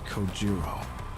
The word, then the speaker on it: Kojiro: strength to open my mouth once more it's coiro sure bro sleep tight the dog lifts his